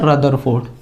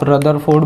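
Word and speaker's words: Rutherford: आए जिनका नाम था रदरफोर्ड। जिनका नाम क्या था, रदरफोर्ड। आप रदरफोर्ड बोलो, रुदरफोर्ड बोलो, उसका कोई फर्क नहीं पड़ता, लेकिन आप स्पेलिंग प्लीज सही लिखना।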